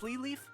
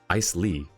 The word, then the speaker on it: Isley: ice leaf? Ice Lee. Interesting. I thought there was more... there were more vowels pronounced. But yes, Winter Ice Lee. They say that the King of Winter Isley and the King of Midsummer Oak are sworn enemies.